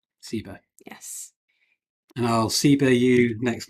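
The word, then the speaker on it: ceiba: that question laura um ceba i should say is spelt c e i b a uh yes c e i b a sibo yes and i'll cbu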